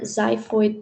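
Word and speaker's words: xiphoid: And finally the last portion is your zyphoid process spelled with an X. So it's X I P H O I D.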